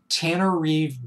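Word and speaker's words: Tananarive: Then there's Stephen Barnes, Tanner Reeve Due. Her first name is spelled T-A-N-A-N-A-R-I-V-E, Tanner Reeve Due.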